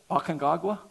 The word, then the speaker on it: Aconcagua: Aconcagua?